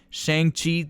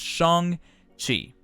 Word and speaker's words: Shang-Chi: time not realizing that i've been pronouncing his name wrong this entire time shang chi that's not how you say it it's shong chi so if you have not seen the film